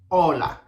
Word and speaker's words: hola: Whenever you see a H in any Spanish word, don't pronounce it because it doesn't have any sounds. So for example, hola. We don't say hola, we say hola.